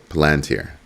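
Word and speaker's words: Palantir: That's Palanteer. That's how it's pronounced.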